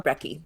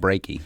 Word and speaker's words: brekkie: And in this case, the spelling is without the A, and it's very much about avoiding the pronunciation breaking. We don't want to call it breaky.